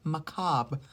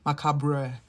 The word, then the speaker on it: macabre: with death and the macab. I hate that you pronounce it like that. Macaba. Macabre Macabre.